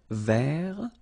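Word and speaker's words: vert: rou remember rou ver so masculine form don't pronounce the final T ver feminine form ver so listen carefully I don't say t but it's t ver ver okay so as usual this final only gives you the possibility to pronounce this T ver okay Mar same thing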